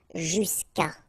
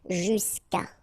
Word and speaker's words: jusqu'à: Normally what happens is that this final will go away, and then we'll put Sorry, we'll put apostrophe, so that's the reason why we get this jusqu'à, okay, and then phonetically, jusqu'à, okay.